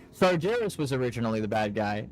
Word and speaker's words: Sargeras: I don't know why I say Sargeras. Sargeras is his name. I just grew up my whole life pronouncing it wrong because I never heard a voice actor say it, so.